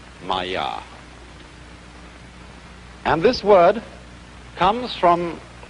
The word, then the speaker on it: Maya: And in Indian philosophy, the fundamental word for this kind of thing is the Sanskrit term Maya. I'm going to write that down for you. Pronounced Maya.